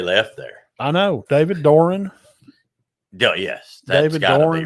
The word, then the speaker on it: Doeren: nobody let anybody left there I know David Doran yes that's got be right we looked at the pronunciation that's all that's where I have Greg call Greg Doran I mean David Doran yeah well they've had